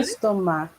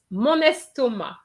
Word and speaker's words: estomac: estomac. Paris? Mon estomac. Okay, yes. Rihanna, you pronounce the C. In fact, there's no C pronounced for my stomach. It's mon estomac.